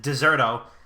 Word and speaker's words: Dexerto: dextero dex turtle uh he pronounces it deserto and jack shepard do you know what i'm saying that's what it is it's actually deserto deserto yeah that's it